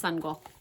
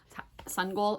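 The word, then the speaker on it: Sangoel: teach people his name my name is sunle sule is how it's pronounced I read it wrong the whole time but at the end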